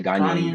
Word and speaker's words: Ghanaian: Ghanian. Is that correct? Yeah, Ghanaian, Ghanaian. yeah.